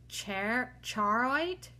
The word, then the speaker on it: charoite: number 50 is our last one and it's ch charite charite charite I'll spell it c h a r o i t